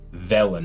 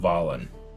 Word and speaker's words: Velen: Is it Valen or Valen? Velen. I think it's supposed to be Velen. The third thing? Velen. Velen, not Valen.